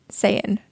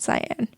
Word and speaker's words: Saiyan: One in one form, yellow hair form, and then I also realized I was pronouncing this wrong. He goes Super Saiyan, which is really Saiyan, not Cyan.